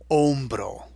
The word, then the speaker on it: hombro: H makes no sound in Spanish. So there's no way to know it's there unless I just tell you, hey, this starts with a silent letter. So the shoulder in Spanish is el hombro. And hombro starts with that silent letter.